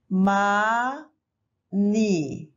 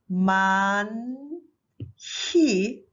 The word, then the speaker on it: 많이: As we know, H is silent, no sound, and then N is moved to the next syllable because N is just a space holder, right? So this is ma ni.